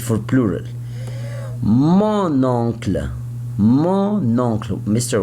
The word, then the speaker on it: mon oncle: Why I pronounce now the letter N. You say mon oncle before you say mon père, mon frère, mon grand-père. I don't pronounce the letter N. I pronounce it, but it's not clear.